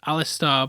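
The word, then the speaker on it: Alastor: alisto mocks her and I think it's pronounced Alistar but but spelled store which I've checked and I'm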